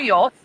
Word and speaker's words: yolk: in gotcha two extra yolks did she just pronounce it with the L did she just really pronounce it with the L yolks okay yeah we doing